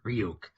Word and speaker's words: Ryuk: at yeah of it of ryuk it's pronounced real yeah okay that's oh